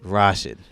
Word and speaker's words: Rashid: uh I know it's It's Tricky it's rarely pronounced correctly so don't feel bad Rashid all right Rashid yes rash Rashid I have